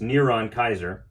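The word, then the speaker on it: נרון קסר: the beast a Hebrew spelling of Nero's name neuron Kaiser pronounced neuron Kaiser right says Gentry it has been documented by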